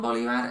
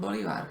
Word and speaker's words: Bolívar: Para los eslovacos es muy difícil entender que Simón Bolívar es Simón Bolívar y no Simón Bolívar. Que Perú es Perú, no Perú. ¿Sí?